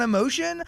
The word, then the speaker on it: Emotion: on new album emotion you can just say it emotion you I I spelled it phonetically but I find a lot of people are being like so your new album emotion I'm like no not really but okay yeah I thought it sound like fancier you know what I